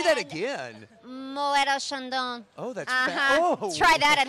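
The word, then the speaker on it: Moët & Chandon: Julia Fitzroy of and I learned how to pronounce it Mo Shandon oh I love that is that ready I mean come on say that again MOA Shandon oh that's try that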